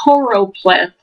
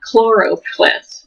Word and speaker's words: choropleth: There's the choropleth map. I always mispronounce that and call it choro. It's called choropleth, not chloropleth. I always want to say chloro, but I guess I'm thinking Clorox or whatever.